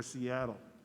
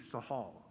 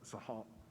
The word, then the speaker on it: Seattle: pronounce it along but it's a chief sahal not not seattle but sahab and we need to